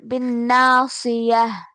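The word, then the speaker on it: ناصية: নাসিয়াহ ওয়াকফ হয়েছে তাই হা সিয়াহ উচ্চারণ সিয়াহ হবে। জি। জি, বিন্নাসিয়াহ।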